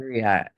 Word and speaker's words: griot: a Griot? I'll say it with the French, Ain't I a Griot? Because I know there will be people that will look it up. It is pronounced griot in French.